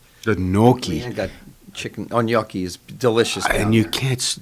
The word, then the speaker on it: gnocchi: I got chicken gnocchi is delicious. And you can't. It's never any good anywhere. I know. How do you pronounce it? Gnocchi.